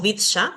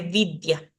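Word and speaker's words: vidya: la palabra escrita ni llama y acá la pronunciación ni llama tenemos acá vidia también tenemos no decimos vdsa sino que vidia y cuando la ya está al comienzo de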